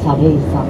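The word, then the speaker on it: 作礼山: れども、作るという字に礼儀の礼に山と書いてサレイ山と言っております。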